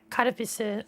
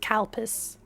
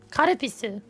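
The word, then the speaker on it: カルピス: So if you can get karapisu, it's spelled like this. In English, I guess you say like kalpis. People think it sounds like cow piss, but it's not. Karapisu.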